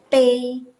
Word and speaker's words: 杯: Pay, ini bacanya pay. Pay itu nada ke satu.